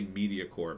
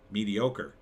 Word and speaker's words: mediocre: now uh mediocre God I always mispronounce that word my brain I always say media core but I know it's mediocre God I gotta look